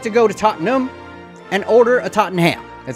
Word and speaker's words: Tottenham: And yes, it is pronounced Tottenham, not Tottenham. The language is named after you, English. Use it correctly for once. I don't understand. As a fat American, why would you not emphasize the ham?